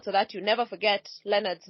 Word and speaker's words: Lenard: check it out so that you never forget Leonard's name once you hear the name coffee you'll also remember Leonard because you remember there a man and Care